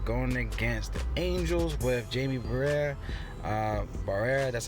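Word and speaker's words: Jaime Barría: All right, let's go to Eugenio Suarez, man, going against the Angels with Jamie Barrera. That's how you pronounce it.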